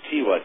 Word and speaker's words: Tigua: T-I-G-U-A is how it's spelled now. It's pronounced Tiwa, T-E-W-A, by the original natives.